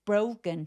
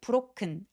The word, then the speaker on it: broken: broken 할 때 브로크 아니고 brow 오라고 소리가 나야 되니까 우까지 느껴질 수 있도록 입술을 살짝 내밀어 주세요.